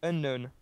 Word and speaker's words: unknown: Alors, juste, je Je vais corriger sais ça directement, c'est unknown. pas. Ouais, tout C'est simplement. le K, KN qui n'est pas prononcé en anglais.